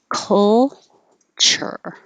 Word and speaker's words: culture: making a cake so don't worry about is it a u sound culture is it a oh a sound culture you're not making any sound any vowel sound you're just making